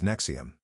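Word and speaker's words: NXIVM: When a friend told her about a professional development organization called Nexium, pronounced Nexium, that promised to help people reach their full potential, Sarah was intrigued.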